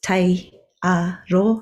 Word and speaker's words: Taiaro: Ko tai aro tai katoa tōku ingoa. No reira, te hei mauri ora. Kia ora i te whānau. My name is Taiaro. That's pronounced Te-a-ro, so you really pronounced it beautifully, thank you.